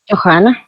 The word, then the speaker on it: Johana: Johana. Johana. Ah, es que utiliza la H como J.